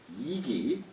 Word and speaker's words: 食其: 한왕이 문 이기 한왕이 문 이기 이기예요. 예, 이게 예, 식은 사람 이름으로 쓸 때 이로 발음한다고 그랬어요. 문 이기 의 대장 수야